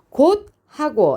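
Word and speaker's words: 곶하고: 그래서 어떻게 의문변동이 일어나요 처음에 자 음절 끝에서 즈가 소리 나지 못해요 그래서 들어 교체되는 현상이 일어나죠 이거 무슨 규칙이요 음절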